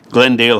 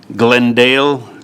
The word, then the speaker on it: Glendale: Glendale has two syllables. Glendeli has three syllables. And the crescent do not sound alike, even if most of their letters are the same. Glendale.